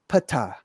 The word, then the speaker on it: Ptah: So if you were to say this, it would be Ptah, or similar to Ptah, the creator god, and Pater, which means father, or Peter, etc.